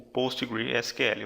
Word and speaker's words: PostgreSQL: a Oracle, e o PostgreSQL, ou Postgres, depende aí de como você deseja pronunciar. Então temos aqui alguns exemplos, existem outros.